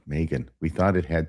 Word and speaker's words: Meggan: So I just tell people the second G is silent because then people want to say Megan or I don't know. They don't know what to do. It gets Right. confusing. Yeah. Right. Megan.